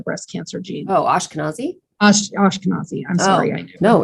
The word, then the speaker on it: Ashkenazi: you, and I never can say it right, Afghanic Jewish. If you didn't have that line, it couldn't tell me if I had the breast cancer gene. Oh, Ashkenazi? Ashkenazi.